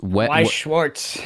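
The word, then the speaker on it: Weiß Schwarz: I've no idea how to pronounce this game. I'm pretty sure it's a card game. It's Weiss Schwartz.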